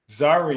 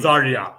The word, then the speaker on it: Zarya: So I want to pronounce this right. Correct me if I'm wrong. It's the Zaha Zara series. You know Zarya. Do you want to correct me? Zarya. Zarya. Zarya. There we go.